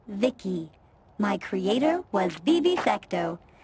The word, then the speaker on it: VIC: transistors by the way I'm VI i c pronounced Vicki my Creator was Vib